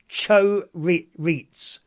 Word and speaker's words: chorizo: And Ross says, chorizo is pronounced chorizo.